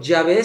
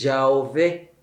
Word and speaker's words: Yahvé: En hebreo no se escriben las vocales, solo las consonantes. Entonces, por ejemplo, Yahvé se escribe YWHW. Y la Iglesia Católica siempre le puso las consonantes, Yahvé. Y llegó Lutero y dijo, no, ahí dice Jehová, pero son las mismas consonantes, nada más cambian las vocales.